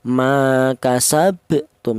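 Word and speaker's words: ما كسبتم: Jadi cara bacanya huruf ba yang mati ini dipantulkan ma kasabtum ya seperti itu.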